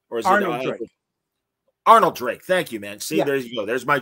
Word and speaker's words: Arnold Drake: he interviewed jose luis garcia lopez wow uh alfred drake uh dude patrol creator am i saying it right or is it arnold drake thank you man see there you go there's